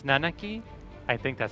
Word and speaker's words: Nanaki: It is Nanaki. It's Nanaki.